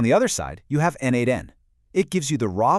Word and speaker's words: n8n: First off, it's pronounced N8, and it's a super powerful workflow automation tool.